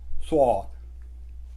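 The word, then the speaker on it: ص: इसे प्रोनाउंस कैसे करते हैं? सौद, आपका मुंह गोल बन जाता है, सौद, थोड़ी भरी हुई आवाज़ होती है, सौद।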